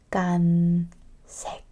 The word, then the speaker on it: 빨간색: I will pronounce b and p together, but without air. Ba, ba, ba. 빨간색.